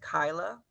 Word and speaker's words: Kiala: So it's actually Metro Inclusive Health, and my name is pronounced Kyla.